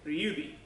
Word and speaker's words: Ryubi: Some of the main characters you'll see, Liu Bei, because Japanese doesn't have a solid L, L's usually become R, so Liu Bei becomes Ryubi.